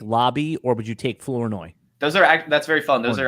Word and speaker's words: Flournoy: Flournoy. Yeah. What are some other common mispronounced names this year?